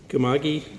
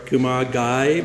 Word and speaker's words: Kumagai: Leslie Kumagi from Scarborough, Kumagai, my apologies, Leslie, from Scarborough, Ontario.